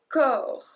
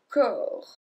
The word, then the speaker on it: corps: Next one, le corps. Le corps. So we don't pronounce the P or the S.